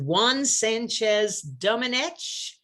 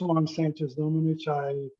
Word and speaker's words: Juan Sánchez-Domenech: We are recording, and it is time for the session on iridology and hypnosis with Juan Sánchez-Domenech.